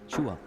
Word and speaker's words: Chou: Chua. Chou. How do you say your last name? Chou.